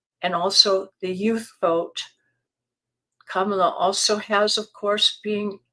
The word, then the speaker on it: Kamala: too you know how Donald Trump has been pronouncing her name with the accent on the wrong syllable he goes Kamala Kamala so apparently Kamala kamla or one of her